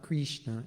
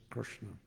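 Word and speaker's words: कृष्ण: up on the Krishna it's not Krishna it's Krishna but there are there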